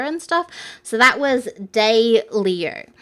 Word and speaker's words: Daylio: So that was Day Leo. So it's, I'll spell it for you again. Let me see. DAYLIO. So it's Daylio.